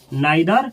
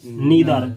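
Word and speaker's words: neither: इसको पढ़ा जाता है आइदर, ईदर, नाइदर, नीदर, दोनों सही है।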